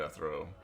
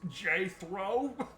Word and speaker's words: Jethro: jethro well how did i throw now you're saying it wrong it's j throw it's from a nordic tribe filtered through a somali diary oh sorry it's cool